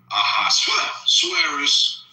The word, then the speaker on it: Ahasuerus: Mordecai or Haman or Ahasuerus. How do you say that guy's name? The king of Iran back then? What's his name? Ahasuerus, or how do you say it?